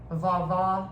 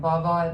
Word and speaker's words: vovó: Vovó in 2023. And vovó means grandmother in Portuguese, because my mom's from Brazil.